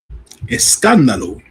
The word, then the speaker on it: Escándalo: That's how you say it, Jim? Escándalo. Escandalo. Okay, Escandalo.